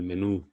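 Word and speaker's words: menú: would say something like El menu the standard sound a little bit longer than the previous one which is a if I did it in the other like the other way around menu then that would imply that the stress is on the E so whenever you see that symbol that tilde you will have to extend the sound a bit more so you can actually stress the sound let's continue La Quinta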